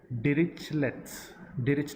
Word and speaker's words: Dirichlet's: It is pronounced as Dirichlet's condition.